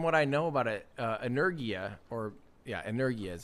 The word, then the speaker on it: Energia: I mean, from what I know about it, Energia is how you pronounce it.